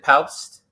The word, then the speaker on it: Paupst: You got Ethan Paupst. I guess you do pronounce the P according to him when I heard him pronounce his name.